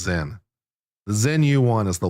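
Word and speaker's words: Sinn: It's pronounced Zen.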